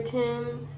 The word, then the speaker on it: Thames: London had a number of baths near the River Thames, that's how it's pronounced, but they called them stews.